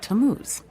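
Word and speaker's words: Tammuz: where do I find him his name is tamuz to what t a m m u z it's pronounced tamuz maybe if you show me your evidence he'll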